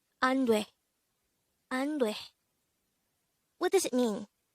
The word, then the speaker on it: 안돼: ANDWAE. ANDWAE. This is pronounced as a two-syllable word. The first syllable is an, the second syllable is dwe. Pronounce it with me. ANDWAE. ANDWAE.